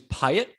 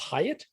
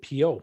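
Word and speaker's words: Piot: James Pyatt. You'd think it wouldn't be pronounced that way, but that is how it's pronounced. Pyatt? Pyatt. I would have said P.O.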